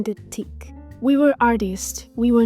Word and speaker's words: Diptyque: knowledge they recognized that the facade was a dipti which in French it's spelled dipti so the shop looked like a